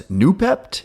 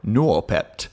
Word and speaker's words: Noopept: you might know as newpp if you want to pronounce it the easy too way or noep if you want to kind of get that second little o sound in there which I'm always torn